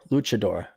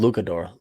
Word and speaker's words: luchador: Luchador. Cha as in Coronachan. Luchador. Oh, I pronounce it Lucador.